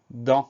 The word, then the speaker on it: dent: Donc le son en, C-E-N, on a une lettre muette à la fin, qu'on va retrouver dans dentition ou dans dentaire.